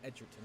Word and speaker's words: Edgerton: That's how you pronounce his name. I've been pronouncing it wrong for the last 20 minutes. Edgerton, okay.